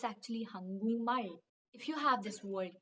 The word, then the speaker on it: 한국말: But when you pronounce it together, you have to say 한국말.